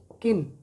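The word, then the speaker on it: kiln: a large oven or किन, इसमें एल साइलेंट है, किन होती है भट्टी होती है, जो आग की भट्टी होती है, ठीक है।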